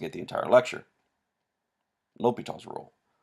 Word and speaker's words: L'Hôpital: at the entire lecture l'hopital's rule it's not pronounced hospital you will sound silly if you call it the hospital rule almost as silly as